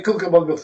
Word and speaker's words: Cucamonga: The name of the river is the Cucamonga River.